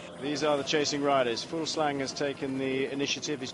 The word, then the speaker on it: Fuglsang: In fact, a Dane told me you have to stop pronouncing the G. Full slack almost.